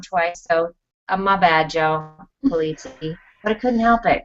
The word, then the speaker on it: Polizzi: So I interviewed Joe Polizzi, and I said his name wrong twice. So my bad, Joe Polizzi.